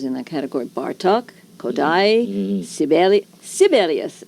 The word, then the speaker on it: Sibelius: We did some well-known composers in that category Bartok, Kodaly, Sibelius as they all learned to pronounce it not Sibelius.